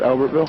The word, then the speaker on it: Albertville: Is that how you pronounce that? Albertville.